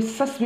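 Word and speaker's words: Circe: बैक्सस था शराब के देवता और सर्स, जिसे सैसी उच्चारण किया जाता है .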